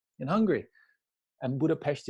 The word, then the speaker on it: Budapest: Budapest in Hungary and Budapest is how the hungarians pronounce it so budapes is tourists you know visitors I'm just telling you so that's the reason why I say budapes because the single s in Hungarian is is a like a sounds in